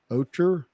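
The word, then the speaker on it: ochre: he's I don't know how to say this ocher o-c-h-r-e yeah ocher over the whole medium then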